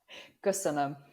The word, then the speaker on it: Köszönöm: Köszönöm.